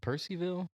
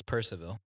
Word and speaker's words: Purcellville: Is it Percyville or is it supposed to be Purcellville? I think it's Purcellville. I grew up kind of close there. And that's always how I heard it pronounced.